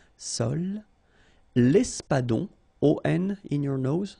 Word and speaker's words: sole: La sole, same thing, don't insist on the final E, okay? It only gives you the L sound, sole, l'espadon.